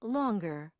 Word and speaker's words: long: in single bangle bungle in words ending in ng that make comparisons by adding ER or EST the G is also pronounced as in longer longest stronger strongest even